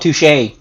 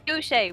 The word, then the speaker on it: Douche: I've never heard of this organization called Touche. No. Douche. Douche with a D, sir. Douchey. I believe Hattie originally said it was pronounced douche.